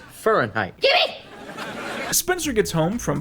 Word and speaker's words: Fahrenheit: It's pronounced Fahrenheit.